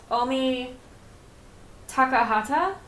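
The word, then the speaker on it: Omi Takahata: Uh, we also met Omi Takahhata. That is the correct way to say her name, by the way.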